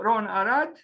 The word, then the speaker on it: Ron Arad: today we'll talk about Ron arat so Ron Arad with a pronunciation in Hebrew he was born on